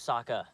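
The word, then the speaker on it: Sokka: isang multo mo lost my name's Saka rhymes with AA Waka Waka she looks very brave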